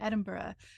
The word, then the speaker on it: Edinburgh: and I live in Edinburgh and and I probably kind of Americanize it too because I'm also from the US but like it's like a ugh sound at the end like Edinburgh and like